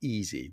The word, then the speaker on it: EESSI: EeSSI, not EasyBuild, but EeSSI. What is it? EeSSI stands for the European Environment for Scientific Software Installations. And the fact that we pronounce it as EeSSI is not an accident.